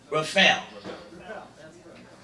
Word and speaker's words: Rifelj: So I am going to start with Hannah Dugan, and then Paul's going to whisper how to pronounce it without the J, so I'll get it right this time. Rifelj.